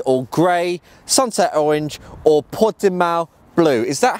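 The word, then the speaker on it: Portimao: These include black sapphire, mineral white or grey, sunset orange or pot de mal blue. Is that how you pronounce that, Andre?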